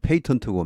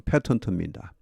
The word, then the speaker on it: patent: 또 the patent, 이 patent, 영국식 발음은 patent고 미국식은 patent입니다. 다 좋습니다.